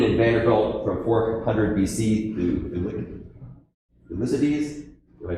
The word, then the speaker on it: Thucydides: A famous dean in Vanderbilt from 400 BC, Thucydides, did I pronounce that right, Thucydides?